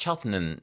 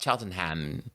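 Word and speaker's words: Cheltenham: Did people tell you it's pronounced Chelton, not Cheltonham?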